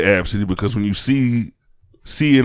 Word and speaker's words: Abcde: Now, the pronunciation, as the article said, was Abcde, like abs or something, Abcde.